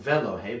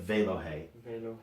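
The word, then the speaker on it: ואלהי: contract it to Vey okay so not fellow hey but Vale oh hey yeah they lo Haga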